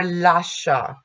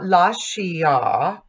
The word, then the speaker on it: lascia: I is silent when it's used to soften C, G, or SC, as in già or lascia. So this is not lascia, but lascia.